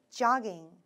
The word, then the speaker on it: jogging: J 발음 살려서 jogging.